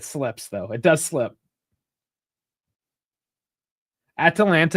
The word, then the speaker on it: Atalanta: Atalanta is hard too because there's Atlanta. Yes, it's an American city, but obviously there's a bunch of Atlanta sports teams.